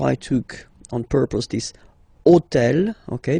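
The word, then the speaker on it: hôtel: took on purpose this hotel okay because it starts with Ash but remember that in French we don't pronounce Ash okay so basically the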